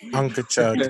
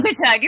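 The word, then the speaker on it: Unkechaug: And tomorrow our guest is Chief Harry Wallace of the, I want to pronounce it right, so maybe Reggie or Tecumseh will have to. Unkachug Nation. Unkachug, thank you.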